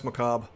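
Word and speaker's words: macabre: Macob. It's one of those weird lone words in English. Uh, you don't pronounce the re.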